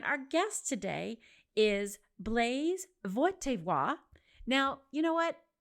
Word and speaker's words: Wojtyla: It's a Polish name and I think I just didn't do a great job of saying it correctly, but it is the same last name as the Pope. His name is Carol Vaywa.